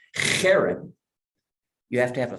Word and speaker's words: herem: The H usually sometimes it has a dot under it because it's way down in your throat.